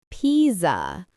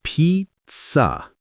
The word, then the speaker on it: pizza: Oh, I used to say pizza or pizza, right? But it's pizza. Pa. Great. The t S sound is important.